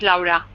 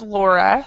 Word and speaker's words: Laura: What is the Spanish pronunciation? The Spanish is Laura. Laura. Okay. Yeah, because the English pronunciation is Laura. So, Yeah. uh, and then when I lived in Europe, I learned the Finnish pronunciation, and it's Laura. So, That's right.